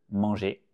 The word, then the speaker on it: mangé: Tu prends le verbe avoir au présent et tu rajoutes pour le verbe manger, manger, c'est la même prononciation que l'infinitif. J'ai mangé, tu as mangé, il